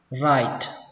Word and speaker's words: write: Ở đây âm y được đọc là i, các bạn tưởng tượng là âm w nó không tồn tại, nó bắt đầu bằng âm r, write, kết thúc bằng âm t, write.